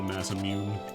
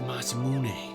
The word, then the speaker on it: Masamune: When I was a kid, I always called it the Mass Immune. But Andy, that's not how you say it. It's the Masamune.